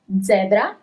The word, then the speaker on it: zebra: Zebra, zebra. So you actually write it in the very same way you write it in English, but the pronunciation is different, as letter E in English is letter E in Italian.